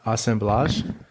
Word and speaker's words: assemblage: would start by saying assemblage it's a pronunciation of the French way I think um aome BL